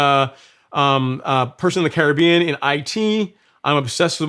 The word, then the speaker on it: Caribbean: were the carib indians so that's why like caribbean so it's actually caribbean not caribbean but i mean either pronunciation is accepted but if you are from